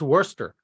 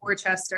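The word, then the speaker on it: Wooster: town of Worcester Ohio wer Ohio yep wer pronounced Worster that's Worcester I know it looks like Worchester if I College of Worcester yeah like the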